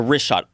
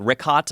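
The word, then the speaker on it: Richat: of these concentric circles tell him yeah the wrist shot r-i-c-h-a-t it's worth mentioning that yeah in the first couple i just want to say it's wrist shot i used to call it rick hot i was mispronouncing it but let me ask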